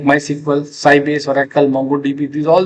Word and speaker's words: MySQL: So how it is pronounced my SQL that is called the MySQL MySQL.